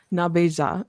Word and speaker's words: Nabeja: And I will say in Potawatomi, it's Nabeja is how they pronounce it in that particular area.